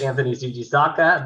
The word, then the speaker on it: Anthony Fujisaka: uh my name is anthony fujisaka the t is silent the rest is phonetic um trust me i've never